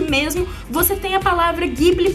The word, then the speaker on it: Ghibli: E eu acho que vocês vão perceber bastante que o som é de Gui e não de Di, como realmente seria a pronúncia de G-U-I, de Guilherme, por exemplo.